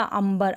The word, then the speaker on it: अंबर: जो है प्राण सेशन उच्चारण कैसे होगा अंबर आधा मुंह करके होगा तो उपर रंग की मात्रा लगी हुई है लेकिन इसमें ध्वनि यानि कि साउंड उच्चारण आधा मौका हो रहा है अंबर इस तरह से